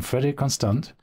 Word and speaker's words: Frederique Constant: today we have with us Neil zering from freder conand do I pronounce the the brand name correct is that